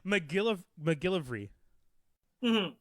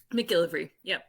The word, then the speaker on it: MacGillivray: And what's wild is my name is pronounced exactly as it's written. Like, there's no tricks, there's no hidden, anything.